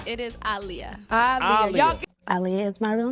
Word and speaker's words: Aaliyah: the corect the kect not the conect pronunciation pronunciation it is aliia Al Ali is my real name it's very